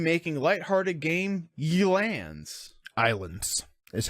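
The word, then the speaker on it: Ylands: light-hearted game ye lands Islands is how it was pronounced it's y la and es like the letter y la India but it's pronounced islands don't starve slash marking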